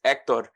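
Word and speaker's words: Héctor: Um, so yes, the H I guess in some sense the H is silent. So because ector, but yeah, so it I don't care. You can call me Hector, you can call me Ecto.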